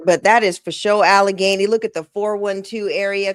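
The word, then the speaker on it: Allegheny: All you got to do is type in Alagany. Type in Alagany and it will show you how to say it. It will give you the annun pronunciation is AlaGany.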